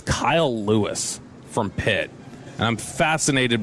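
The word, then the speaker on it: Louis: Like we're talking guess his last name is spelled like that. L O U I S. I would have guessed Lewis the last name would have a W.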